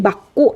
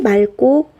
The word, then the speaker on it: 맑고: 미로 좀 올려 볼게요 우리 요런 단어는 하늘이 막고 라고 발음하지 않죠 어떻게 발음 하 죠 하늘이 맑고 바람이 솔솔 분다 하늘이 맑고 꼭 그럼 또 끝이 밀